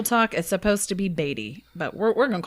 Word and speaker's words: Beattie: today let's do it we're talking about the Bey mansion and how do they actually pronounce it it's the batty Mansion but that's ridiculous I don't like that